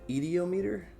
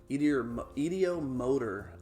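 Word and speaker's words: ideomotor: It's called the ediometer. idiomotor effect.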